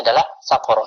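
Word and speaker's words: سقر: Di situ sakornya dibacanya sakurun, sakorin atau sakoro. Bacanya adalah sakoro.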